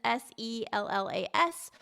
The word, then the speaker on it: Sellas: And then the last name is Sellas.